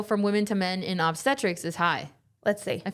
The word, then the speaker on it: obstetrics: surgical specialty focused on pregnancy is called obstetrics. Oh, that's what I just said. Obstetrics. Obstetrics. Yeah, Thank you. yeah. I was putting the emphasis on the wrong syllable.